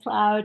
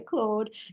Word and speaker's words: Claude: so many out there with cloud or Claude um I also say cloud and some say Claude it's the pronunciation but you know it's